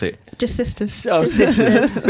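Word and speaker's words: Sistahs: Oh, Sisters. But it's spelled AHS at the end, not Sisters.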